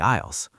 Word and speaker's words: aisles: I actually enjoy walking through the aisles. Isisles? That's a tricky word to pronounce. The S is silent.